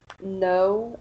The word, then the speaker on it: know: letters like the words no and island the k is not pronounced in no and the s is